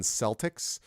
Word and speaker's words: Celtic: me that always confuses me about that is Celtic versus Celtic because I root for the Boston Celtics but the Irish pronunciation of course is Celtic so it's always